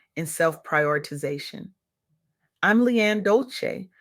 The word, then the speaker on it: Dolce: I'm Leanne Dolce, pronounced Doulce, and today I'm electrified to share revelations from